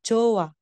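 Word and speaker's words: 좋아: ' ba po Jot Kaso yung H is followed by an Empty consonant so hindi natin bibigkasin yung h magiging Jo lang po siya So Jo tapos a so chowa or chowa chowa chowa ganon po another example Ito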